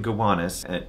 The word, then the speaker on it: Gowanus: It's in Gowanus. Gowanus is spelled G-O-W anus. So it's Gow anus, if that helps.